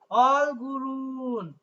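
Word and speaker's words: 얼굴은: হাজিমান কিন্তু অলগুরুন, অলগুল শব্দের অর্থ হচ্ছে মুখমণ্ডল, তার সাথে একটা পার্টিকেল যুক্ত হয়ে উচ্চারণটা হচ্ছে অলগুরুন, রিউলটা উপরে উঠে গিয়ে রয় সুদন্ত না রুন হবে অলগুরুন।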